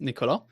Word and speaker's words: Niccolò: So my name is pronounced Niccolò, but you can just call me Nico.